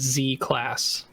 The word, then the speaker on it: Z class: Yeah, pronounce it with a Z, just as Z class.